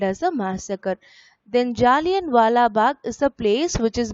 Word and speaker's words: Jallianwala Bagh: So pronounce the word once again. Jallianwala Bagh massacre.